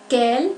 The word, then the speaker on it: quel: Las 4 formas del adjetivo interrogativo se oyen igual al momento de su pronunciación. Su pronunciación es idéntica. Quel, quel, quel, quel.